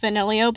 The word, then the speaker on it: Vanillio: Yes, his name is pronounced Vanillio, but there's only one I, and I'm not going to change that.